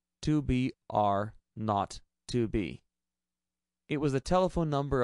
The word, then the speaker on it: 2 B R 0 2 B: The 0 on the telephone number he pronounced not. The number was 2BR not 2B.